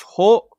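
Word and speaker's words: ほ: Ho is like that. Pronounced ho.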